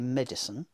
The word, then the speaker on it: medicine: The first syllable of medicine is so strong that the I is dropping out.